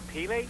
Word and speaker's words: Pele: Now, see if I pronounce this right, Tori. Boys for Pele? Boys for Pele, yes.